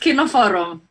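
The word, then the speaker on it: Kineforum: programmer of Micro Cinema Kina Forum. Am I pronouncing it correctly? I hope so. It's pronounced Kinoforum. Kine Forum.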